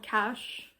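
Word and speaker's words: Cache: in Oklahoma it's called Cash catche I think it's pronounce cash um that's how I'll be pronouncing it but um he goes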